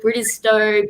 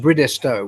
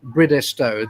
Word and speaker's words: Bridestowe: quickly you know i've heard uh many people pronounce bridgestow differently i've heard bridestowe british stove bridgestone can you just clear the air for us